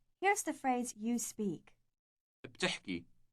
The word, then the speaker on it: بتحكي: بتحكي. بتحكي. The word has two consecutive consonants at the beginning, B and T.